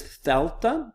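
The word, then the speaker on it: δέλτα: The next letter is thelta.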